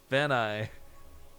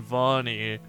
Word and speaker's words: Vani: Like, we are fully aware we pronounced it incorrectly. But it sounds so much cooler than Vani.